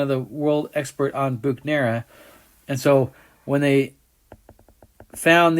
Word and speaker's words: Buchner: bhugnero is named after buchner that's why we know the right way to say his name is german inside of those bacteria